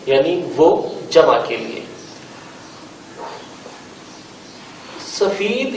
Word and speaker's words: سفید: وہ جمع کے لیے۔ سفید یا سفید، دیکھیں لکھنے میں تو املا ایک جیسی ہے، ایک ہی لفظ ہے، لیکن تلفظ تھوڑا سا مختلف ہے۔ میں پہلے بھی گزشتہ کلاسز میں آپ کو بتا چکا ہوں کہ فارسی میں یائے معروف لکھی اور بولی جاتی ہے، جبکہ اردو میں یائے معروف کے ساتھ ساتھ